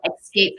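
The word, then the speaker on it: Xscape: So there's a spot here in North Texas called Escape Pain. It's spelled X-S-C-A-P-E, pain.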